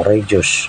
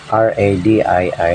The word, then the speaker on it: radii: to a hal radi total meron tayong tatlong radius so pag plural tinatawag natin Ong Rad Okay so Double i r a d i i radi or radii sa ibang mga pronunciation so